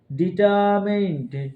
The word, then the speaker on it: determined: ওকে, next হচ্ছে ডিটারমিন্ড, ডিটারমিন্ড, ডিটারমিন্ড মানে হলো সংকল্পবদ্ধ, ডিটারমিন্স মিনিং সংকল্পবদ্ধ, ডিটারমিন্স, ডিটারমিন্ড, ডিটারমিন্ড, ডিটারমিন্ড, ডিটার আছে এখানে, ডিটার আর উচ্চারণ হবে না, ডিটারমিন্ড, ডিটারমিন্ড মানে সংকল্পবদ্ধ, ডিটারমিন্ড।